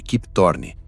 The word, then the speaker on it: Kip Thorne: O físico Keep Thorn, pronuncia-se aproximadamente Kip Thorne, ajudou a equipe a criar esse efeito usando cálculos científicos.